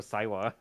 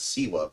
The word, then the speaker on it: Siwa: narcissist like Jojo Saiwa. Yeah, just I thought it was Siwa.